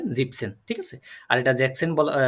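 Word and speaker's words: siebzehn: না হ্যাঁ এটা একটু খেয়াল রাখবেন জিপেনসেন বলে ফেলবেন একটু একটু খেয়াল রাখবেন জিপসেন ঠিক আছে আর এটা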